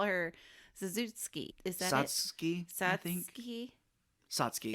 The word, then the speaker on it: Satsuki: Satsuki? Yes. Oh, God. Satsuki. That's easy to pronounce.